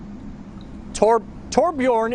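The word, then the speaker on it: Torbjörn: Did I hear Torbjorn? Yep, Torbjorn. Yep. Torbjorn is correct.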